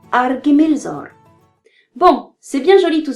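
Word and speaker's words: Ar-Gimilzôr: KH vaut R, le son allemand de ar, proche du R français. PH vaut F et TH vaut Th, le son anglais de bath, proche d'un S. Chez les voyelles, il n'y a pas de changement. Le E fait E et le U fait U. Le Y fait I. Ainsi, on dira Argimilzor.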